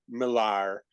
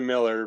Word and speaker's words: Millar: And I'm sorry, I will always say Millar instead of Miller because it's spelled Millar. You can have your name spelled Joe and call yourself Jim, but I'm gonna say it the way it's spelled.